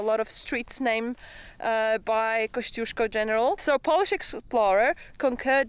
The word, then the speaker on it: Kosciuszko: name, because it's actually Kosciuszko. Yes, I know, not many Aussies can actually pronounce that. I'm gonna give you a Polish lesson now. Okay, you ready? Kosciuszko. One more time. Kosciuszko.